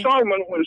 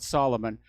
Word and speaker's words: Salman: Now, what Jared Kushner got in return was Major bin Salman. Lenny, we got to back up. First of all, it's pronounced Salman, not Solomon.